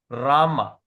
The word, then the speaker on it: Rama: It comes with the it comes with a dash on top. Okay. Dash on top. Dash on top means we pronounce as rama. Rama.